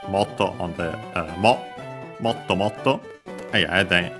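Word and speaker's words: もっと: And we have motto, more, repeated here, so more and more, accent on the motto, on the motto, and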